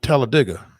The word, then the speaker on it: Talladega: and he said yeah that's locals say it that way it's like dig a hole it's television tell a digger Talladega that is that